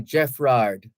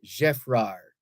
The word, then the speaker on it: Geffrard: we tend to say Geffrard as opposed to pronouncing it the French way, Geffrard, because the D at the end would be silent.